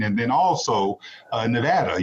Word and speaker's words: Nevada: and then also nevada you said nevada not nevada and that's good because i must say anyone who comes to our state and mispronounces it might get up charged so thank you so much for pronouncing the state correctly as well uh but